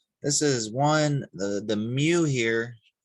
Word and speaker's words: mu: This is one, the mu here. It's spelled MU or mu. Try that again. Mu, not meow, mu.